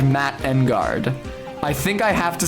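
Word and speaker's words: Engarde: Engard? Yeah, that is how it's supposed to be pronounced.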